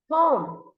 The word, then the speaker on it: home: You should not going to say homey. Homey. No, it's not homey. It's home. Only one syllable.